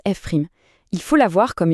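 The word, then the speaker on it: f′: La fonction dérivée, on la note F prim, on prononce F prim.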